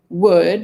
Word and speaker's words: would: We stopped pronouncing the L, but by that time we were writing it that way and we were accustomed to it.